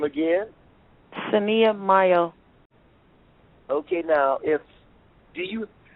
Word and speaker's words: Mayo: a h and then my last name like cinco de mayo m-a-y-o um that's my